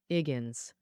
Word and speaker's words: Higgins: The male lead, Higgins, his name starts with H, which he doesn't pronounce, so it sounds like Iggins.